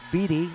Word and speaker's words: Beatty: b-e-a-t-y but thanks to my handy pronunciation guide i know it's beaty and not beaty sam alabale serves black now